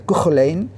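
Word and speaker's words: Cú Chulainn: de curso online o cuchu line en escrito así en la transliteración castellana se pronuncia con line y de sigurd o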